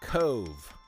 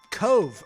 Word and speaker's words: Cobh: County Cork, Ireland, pronounced Cove. Cove. Okay. Cove. I wouldn't have. It's an Irish spelling of an English name.